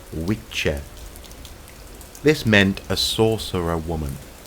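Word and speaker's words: wicce: most likely has its roots in Old English pronounced we check this meant a sorcerer woman and is clearly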